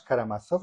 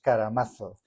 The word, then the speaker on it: Karamazov: Me explico, no son los hermanos Karamazov, sino que son los hermanos Karamazov.